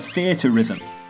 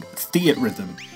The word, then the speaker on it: Theatrhythm: first off how the hell do we pronounce the name of this game I've always said fear to rhythm square enix PR have been known to say it like this but the games producer has been filmed saying Theatrhythm I'm gonna trust him for now Theatrhythm Final Fantasy curtain